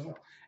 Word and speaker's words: Roussel: Russo? Roussel.